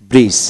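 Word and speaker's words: bridge: যেমন বি আর আই ডি জি ব্রিজ, এখানে ডি উচ্চারিত হবে না, বি আর আই জিই ব্রিজ।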